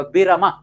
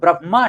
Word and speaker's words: ब्रह्मा: ऐसे ही आपने बिरमा नाम सुना होगा। बिरमा तो बिरमा नहीं होता। वो ब्रह्मा शब्द होता है।